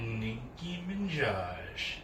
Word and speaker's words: Nicki Minaj: Nicki Minaj. Yep, that's how you pronounce it.